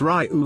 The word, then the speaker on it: Ryu: It's Ryu. It is the correct pronunciation for the Japanese meaning of dragon.